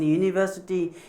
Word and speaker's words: university: alphabet as he is like in university you is evolving but it's pronunciation is not a verbal one it is consonant as you y-o-u yo it is start with yo ya is consonant sound right so the other